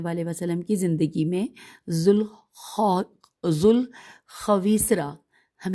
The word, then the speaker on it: ذوالخویسرہ: صلی اللہ علیہ وآلہ وسلم کی زندگی میں ذوالخویسرہ، ہم ہجے کرتے ہیں، زال واو الف لام خے